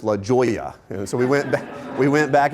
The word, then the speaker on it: La Jolla: about the pronunciation of La Jolla. Now, for those, the J is silent. I was trying to explain that. But this young whippersnapper right out of school was like, no, Johnathan, it's La Jolla.